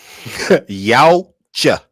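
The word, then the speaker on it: Yautja: Like, how did you pronounce it? Yachu? Shit. Yaocha.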